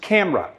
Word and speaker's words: camera: that problem word camera the correct pronunciation has stress on the first of two syllables camera when you have stress